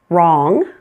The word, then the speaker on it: wrong: Sometimes you'll find words that begin with WR. In this case, pretend it is just an R. That W is silent.